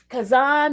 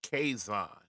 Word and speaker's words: Kaison: what about me, Kazan? Whoever you are. Now, that's the first thing. My name is pronounced Kaison. My father and son be running around here talking about that Kazan.